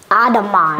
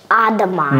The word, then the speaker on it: Audemars: Audemars. That's right. Audemars.